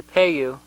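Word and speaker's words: Paayu: the low Colorado River it's also known as the payu I believe it's how it's pronounced in Hopi p-a-y-y-u H it supported the agriculture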